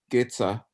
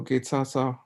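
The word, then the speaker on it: དགེ་རྩ: Here it is in the trans pronunciation. Getza. Geshe translates. He just says karma that we have amassed. But Getza means that karma. Where is it in the Tibetan? Here it is. Oh, Getsa.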